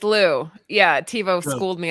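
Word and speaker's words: Louw: Sorry, everybody says his name wrong. It's Warren Liu. Oh, I okay. was Okay, I say Lao, so that's good. It's Lou.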